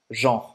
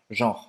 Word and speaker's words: genre: Genre, genre, gênero, genre. Agora vou dar um Genre. exemplo para você entender melhor. Presta atenção na pronúncia, tá, gente? Você não vai pronunciar esse E no final.